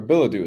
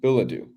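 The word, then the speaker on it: billet-doux: the answer I have belet do Badu or Badu is how it's pronounced excuse me Badu how do you spell it b i l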